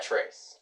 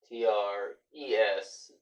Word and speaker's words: tres: tres uno dos tres yeah so it's not trace it straight it's pronounced race but it's spelled trip just like